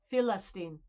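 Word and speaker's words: فلسطين: And so in Arabic, it's Philistine. Philistine. That's how they say it.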